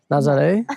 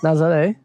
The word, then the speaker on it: Nazaré: Nazaré Nazaré If you watched yesterday you'll know how to say it.